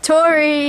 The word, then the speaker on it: Tory: Tory, it rhymes with glory.